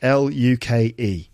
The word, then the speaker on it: Luke: now and then so my name is Luke l u ke pronounced Luke okay people often spell my name luck l u c k which is quite nice but that is not my name and I just thought